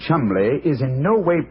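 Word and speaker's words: Cholmondeley: Now, being an American, he had no reason to know that the name Chumbllay is in no way pronounced the way it is spelled.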